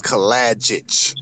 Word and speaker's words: Kalajic: Hard to pronounce, Kalajic. It's a Kalajic. Serbian. Yeah, Kalajic. It's a Serbian name.